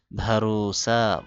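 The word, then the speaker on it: بھروسہ: আধুরা অসম্পূর্ণ আধুরা অসম্পূর্ণ ভারুসা ভরসা এখানে বারুসানা বার পরে হে আসার কারণে এইযেটা হল হালুত এটা এসে বাটাকে ভ বানায় দিছে ভ এর মত উচ্চারণ হবে ভারুসা ভারসা ভরসা ভারুসা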